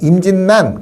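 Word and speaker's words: 임진란: 자 1992년에 임진난 일어났다 이러지 않잖아요. 임진난 그러잖아요. 그래서 얘는 얘도 유음 예로 비마가 된 거야. 임진난 이렇게 된 거고요.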